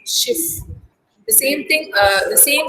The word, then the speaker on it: Schiff: In German, that's pronounced like a double F, Schiff.